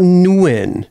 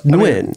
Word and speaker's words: Nguyen: I wrote Nguyen on there. Yeah. And it was like Nguyen. Oh, wait. So let me apologize. So it's not Nguyen. It's Nguyen. I mean, there's multiple ways to say it.